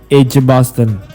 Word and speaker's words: Edgbaston: edgbaston jadi ini bacanya bukan egg tapi J ej Basten nah Ota ini sebenarnya